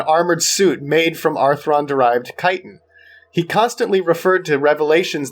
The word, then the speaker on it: chitin: As a zoologist, I'm going to give you 10 points for pronouncing chitin right.